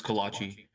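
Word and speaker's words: kolache: You pronouncing that right? I'm sure I'm probably not. Kalach. Kalachi. It's Kalachi. Yeah, bro.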